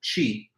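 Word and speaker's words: qi: It's all made from the same life-giving substance called chi. Now, the spelling that sometimes you find is Q I, and that's the one that's used in our text. But, the pronunciation sounds like C H I, and you also sometimes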